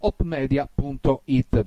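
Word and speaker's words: Hope Media: di molto interessante allora si scrive con l'h davanti opem Media.it e si pronuncia op Media.it visitate il sito ci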